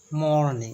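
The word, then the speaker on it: mourning: আসে a song of মর্নিং এখানে যদিও উচ্চারণটা হবে মর্নিং এম ও ইউ আর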